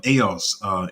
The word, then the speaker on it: AIOZ: Even AOS is spelled AIOZ.